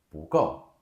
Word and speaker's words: 不够: 不够.